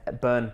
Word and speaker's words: Byrne: So Byrne, I'll get you to spell that out. It's Irish. Irish. And Byrne, Byrne.